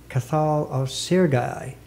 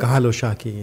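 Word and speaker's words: Cathal Ó Searcaigh: You have also brought out a translation of the Irish poet Cathal of Sirgai. Did I pronounce that right? Cathal O'Shaki, yeah. Cathal O'Shaki is Irish.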